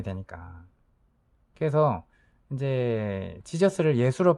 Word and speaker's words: Jesus: 그래서 이제 지저스를 예수로 발음을 하지만 이제 영어 발음은 여러분도 알다시피 지저스죠.